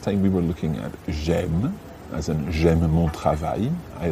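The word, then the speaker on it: j'aime: it gem that's right j apostrophe the word for i is j j e but it becomes g apostrophe before a vowel so m is spelled a i m e gem okay so we could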